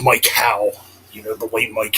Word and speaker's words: Mike Howe: church and heretic with Mike ho or Mike there I go again with st hoe with Mike how you know the late